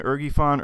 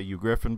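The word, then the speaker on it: uGriffin: It's been you, Griffin, Ergifon, Ergifon, Ergifon. Honestly, I don't really care how you say it. You're supposed to say you, Griffin, but you know what? Some people just don't, so don't worry about it.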